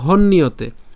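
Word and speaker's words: হন্যতে: অয়ং পুরানো শাশুয়ত শাশুয়ত অয়ং পুরানো এরপর ন হন্নিয়তে এখানে হন্নিয়তে উচ্চারণ করলাম কেন হন্নিয়তে এখানে আমরা হন অর্থাৎ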